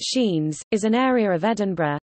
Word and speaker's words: Sciennes: Sciennes, pronounced Sheens, is an area of